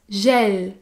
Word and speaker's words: gel: domicile le gel hydroalcoolique le gel gèle ses cris j'ai eu l est se prononcent gel gel il s'agit du est ouvert et des gels gel